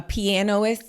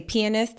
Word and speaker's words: pianist: that's when I realized you don't pronounce the a piano player a pianoist you got to say pianist and Adrien Brody started